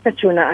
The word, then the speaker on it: Petrona: My name is Petrona. Can you spell it for me?